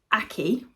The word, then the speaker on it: Akie: and it's by akie I always have to sort of think on that one because when I saw her pronounce her name she said Aki rhymes with hockey but I'm I'm never